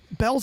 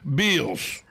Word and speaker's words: Belle's: buddy paul really because he pronounces it the way it's spelled because we've always taught been taught an a after an e makes the e long it's not it's not untrue so in the in the in the in the world of english grammar it should be pronounced bills that's where you go and you really don't want to take your kids to the mall right but instead we call it bells but that's pretty cool